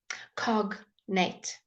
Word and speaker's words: cognate: say the d g sometimes excuse me when it's parts are too like um two parts of a word that are joined together you would say the g um cognate okay cognate so your